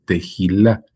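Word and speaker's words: תהילה: de adoración o alabanza es tejilá, que sería la h. Se pronuncia como una J.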